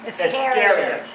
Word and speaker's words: Iscariot: How do you spell it? Say what? Judas Iscariot. Iscariot.